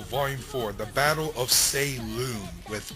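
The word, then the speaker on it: Saillune: care if you guys pronounce it as say loon with an L okay I'm going by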